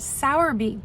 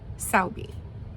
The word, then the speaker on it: Sowerby: and it's interesting because there was American pronunciation and then there was British pronunciation so the American pronunciation was Sour bee the British pronunciation was Sao a b saubi um still not sure